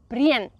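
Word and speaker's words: Brienz: pronounce that one yeah I would say prince and Prince is really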